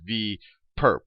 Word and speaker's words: V perp: So we write this little orthogonal notation as a superscript on V, and you can pronounce this as V perp, not for perpetrator, but for perpendicular.